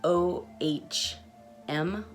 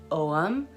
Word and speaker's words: Ogham: you pronounce um so there's two different ways i've heard them pronounced so om um like o h m ohm or i've also heard it pronounced om like o-h-a-m-o-m um and